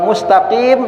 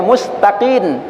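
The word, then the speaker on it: مستقيم: Atau dia baca ee mustaqim dibacanya mustaqin mimnya berubah menjadi nun.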